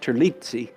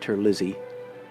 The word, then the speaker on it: Terlizzi: I think in Italian it should be pronounced Terlizzi, but it's been Americanized, I think, so he pronounces it Terlizzi.